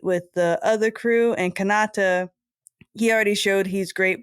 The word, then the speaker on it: Kanata: Kanata is how you say it.